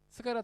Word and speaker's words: 스가랴: 그런 거랑 똑같은 거예요 원래 이름의 발음은 히브리어 발음이 따로 있는데 이거를 아랍어로 바람을 했을 때 사가랴가 되는 거예요 원래 히브리어 발음은 뭐냐 바로 스가랴입니다 스가랴 다 들어보셨죠 우리 구약성경에